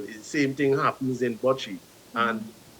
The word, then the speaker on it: bocce: All of these games I'm seeing that you guys participate in, if I'm pronouncing it incorrectly, please correct me, is a boshi? Bocce, Bocce.